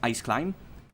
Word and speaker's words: Ice Climb: obviamente porque soy angloparlante, normalmente se pronuncia como Ice Climb, pero es difícil porque estoy, ¿cómo se dice? Implementando, usando los fonotácticos de español, así que es muy difícil adivinar cómo pronunciar algo en español. Depende, porque hice climb. Sería cómo se pronuncia si fuese de totalmente en español, pero obviamente lo correcto es Ice Climb.